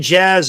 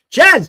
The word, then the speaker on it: Jazz: The J in Jazz is silent.